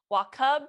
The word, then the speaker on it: Wachob: This is your host, Rachel Gregory, and I am here with Colleen Wachob.